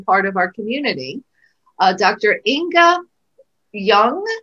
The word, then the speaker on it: Ynge Ljung: Ynge Ljung, is that the right way to say it? Yes.